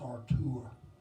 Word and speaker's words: Artur: He's German, and his first name is pronounced Artur.